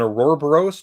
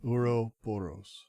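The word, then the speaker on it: ouroboros: Uro Boros. Why are you rolling your R like you speak Latin?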